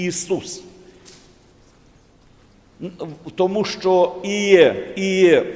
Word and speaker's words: Ісус: вже як і Ісус правильно Браття і сестри буде і вимовляти і писати з двома і і Ісус тому що іє іє